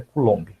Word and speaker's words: Coulomb: A pronúncia certa é Coulomb, no LOM, a sílaba tônica.